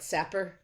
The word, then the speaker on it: Sapir: just so you know this is called the i pronounce it superior wharf hypothesis um other people call it sapper that just doesn't sound right zapier wharf okay based